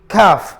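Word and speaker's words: كاف: So ito po ang kanya pong pangalan ay calf.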